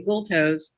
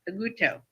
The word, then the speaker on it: Agulto: There's no consonant there. Agutu. No L. No L. No consonant. Okay, got it. Only the American English that is pronounced L. We throw it in there hard. Okay, Aguto.